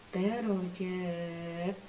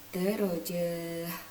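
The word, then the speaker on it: درجات: Ini dibacanya darajat, bukan darajah. Ya, beda ketika taknya itu adalah tak yang seperti ini. Nah, kalau taknya seperti ini maka kita membacanya darajah. Tapi kalau taknya seperti yang di bawah ini, maka kita membacanya adalah darajat.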